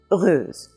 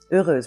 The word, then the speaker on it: heureuse: And today we're going to take a look at the word heureuse, heureuse, which is a nice word because it means happy or fortunate.